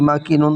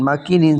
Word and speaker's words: مكين: মাকিনিন ছিল, ইম জবর মা, কাফ ইয়াজের কি, মাকি নুন দুইজের নিন, মাকিনিন ছিল। অক্ফ হওয়ার কারণে এখানে মাকিন নুনটা সাকিন হয়ে যাবে, এবং মদের হরফের পরের হরফে অক্ফ হওয়ার কারণে 3 আলিফ টান হবে, উচ্চারণ হবে মাকিন।